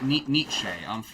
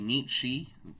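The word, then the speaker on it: Nietzsche: You can say his name is actually Nichi as they say niti.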